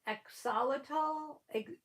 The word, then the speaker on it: axolotl: And I don't even know how to pronounce it. Axolotl.